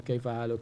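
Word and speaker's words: كيف حالك: Or Kaif, Haluk, Ki. Question. Kaif, Haluk. Now the Arabs, they do not pronounce the ending vowels. They pronounce the letter, they take the sound of the letter.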